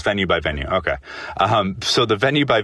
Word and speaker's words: VENUExVENUE: It's Venue by Venue.